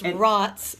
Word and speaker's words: Racz: I keep saying her name wrong. And it's Racz. Yeah, Racz.